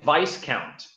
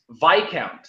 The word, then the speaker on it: Viscount: you you kept saying vise count what is it then VY count the S is silent what why it happened